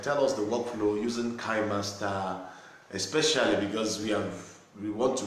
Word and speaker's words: KineMaster: And actually, I started using KineMaster, which is pronounced KineMaster, some few years back, let's say 4 or